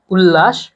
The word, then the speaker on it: উল্লাস: উল্লাস, উল্লাসও সুন্দর হয়েছে, শব্দটা হচ্ছে উল লাস।